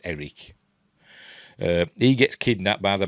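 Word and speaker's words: Airk: There's a son called Eric, but it's spelled A-I-R-K, but it's pronounced Eric.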